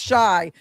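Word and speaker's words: Xia: My name is Shy. It's spelled X I A C H A R L E S.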